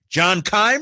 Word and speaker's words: John Keim: At 3:30, John Keim.